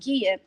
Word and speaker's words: Gia: her name is prince it looks like it's jia but it's pronounced kia and she happens to be the wife to